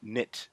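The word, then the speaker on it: Knytt: How's it called? Nich or Notch? Nit. KN Y T. Oh, K N Y TT. Wow, I did not spell that correctly. Yep. Oh, nit. Nit. Yeah, I thought you said niche. Like nit. No, that's just my nasly congested whatever.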